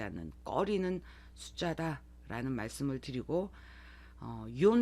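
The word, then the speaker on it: 四: 꺼리는 숫자다라는 말씀을 드리고 욘 말고도 시 시라고도 발음을 합니다 나츠메소세끼의 여기에 신초분고라고 나오죠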